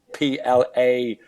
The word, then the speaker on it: PLAYN: I mean, I pronounce it plain eyewear, but PLAYN, so not plain, play N eyewear.